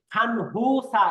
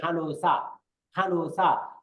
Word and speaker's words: 간호사: তারপরে 이분은 누구세요 간호사입니다, এটার উচ্চারণ কিন্তু দেন খানহুসা এরকম না, উচ্চারণ হবে খানুসা, অর্থাৎ নিয়নের পরে হিউত থাকলে এই নিয়নটা হিউতের সাথে মিলে গিয়ে উচ্চারণ হবে খানুসা।